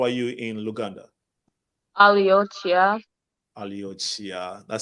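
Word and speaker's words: Oli otya: Aliochia.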